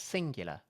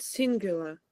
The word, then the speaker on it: singular: Truth was not singular. Truth was not singular. Good. Just say singular. Singular, Note the y sound. Singular. singular, Focus on the y.